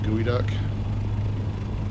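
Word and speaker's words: geoduck: don't know the term gooey duck. Gooey duck. Gooey duck. I'm not sure. But it's spelled like gio. So geo, but it's not it's not pronounced geo. It's pronounced gooey.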